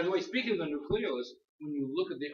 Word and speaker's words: nucleolus: but it's actually pronounced nucleolus. Nucleolus? Yeah, you'll hear it mispronounced nucleolus, but it's properly pronounced nucleolus. The emphasis is on the second syllable, okay?